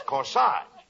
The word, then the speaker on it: corsage: no not Cori Cori that's corsage spelled a g e is pronounced like a as in corsage or or garage now where did you